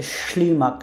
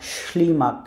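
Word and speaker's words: ślimak: আর একটা এস, কিন্তু এস এর উপরে রেফ, সো এইটার যে উচ্চারণ সেটা অনেকটা স, কিন্তু একটু টান দেওয়ার উচ্চারণ করে শি, শি।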